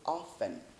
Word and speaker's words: often: often no we say often often this t is silent this one is silent we don't pronounce it we say often how